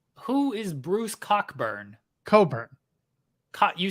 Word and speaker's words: Cockburn: Coburn. You said Cockburn. Yeah, it's spelt Cockburn, but it's pronounced Coburn.